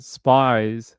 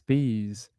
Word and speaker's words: Spees: it spe yeah okay so it's not spies it's Spees okay all right uh